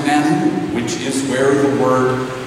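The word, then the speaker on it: מָן הוּא: In Hebrew, the question is pronounced manu, which is where the word manna comes from.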